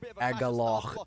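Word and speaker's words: Agalloch: of a band called Agal. It is pronounced at A G A L L O C and pronounced as Aal.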